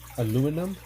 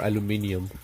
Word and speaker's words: aluminium: Is it um aluminum for one or aluminium for two?